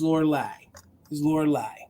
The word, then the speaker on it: Lorelei: It has all the great insignia up here, the deodorizing perfumes, and the way you pronounce the name is Lorelei.